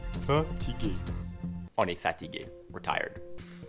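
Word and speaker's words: fatiguée: So it's the same word, and it's pronounced exactly the same. At the end, there's an extra E. That's it. That's the difference. Fatigué. Fatigué. Fatigué.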